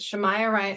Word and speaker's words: Shemaiah: And for those who maybe didn't hear this, or maybe you said it before we actually started, Shemaiah rhymes with papaya.